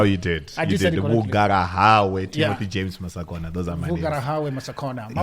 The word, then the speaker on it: Masakona: it correctly no you did I didy James masakona those are my masakona my wife likes saying to me like how do you pronounce it's just interesting I think it's part